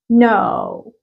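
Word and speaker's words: know: خالص نايف نايف نايف كلمه زي كلمه يعرف نو نو الك ولا كاني شايفها خالص نو نو كل زي كلمه متماسك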